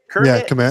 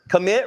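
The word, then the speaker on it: Kmet: Bears uh how do you how do you pronounce his name he's the he's the tight end commit kit Kermit something commit right I had yeah commit I had over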